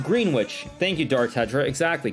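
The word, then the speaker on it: Greenwich: that's we have it's it's pronounced green witch thank you Dar tedra exactly green witch um so yeah what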